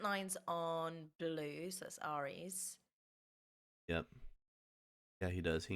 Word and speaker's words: Aries: Lunatic says it's Aries. Bradamite says it's Aries. AIR. How they're phonetically spelled.